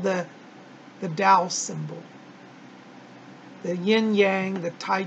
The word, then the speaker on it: Tao: It's spelled T-A-O, but it's pronounced like a D, Tao.